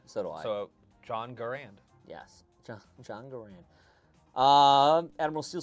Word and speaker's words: Garand: Frag does say it's Garand personally, but a lot is actually because of our Midwest accents. I always hear M1 Garand. So do I. So, John Garand. Yes, John Garand.